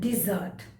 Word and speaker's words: dessert: list is dessert and dessert there is a slight difference in the pronunciation desert repeat with me desert death desert and dessert dessert okay so first let me